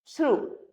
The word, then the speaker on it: through: Now next, थ्रू. THROUGH जिसका pronunciation होता है थ्रू.